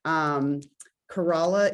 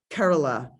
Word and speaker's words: Kerala: Kerala is not the correct pronunciation. It's like Kerala.